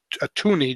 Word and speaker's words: toonie: And then they have a $2 coin that came out, and it's called a toonie, just so it'll rhyme with loony, and Looney Tunes and toonie.